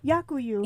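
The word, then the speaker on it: дякую: Yakuyu.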